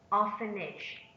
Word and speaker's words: orphanage: is also a nail orphanage orphanage orphanage is the noun instead on the first syllable sixth abandon abandon abandon